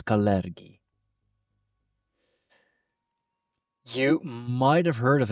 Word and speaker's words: Kalergi: a deep dive into the topic of the caleri plan. And yes, that is how you pronounce it. It's not colly, it's caleri.